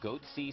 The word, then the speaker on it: goatse: gaping security flaw here foreign they're called goat sea security is that my pronouncing that correctly yeah that's right we're analyzing